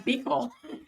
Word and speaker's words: Buechel: She said to say her name Belel.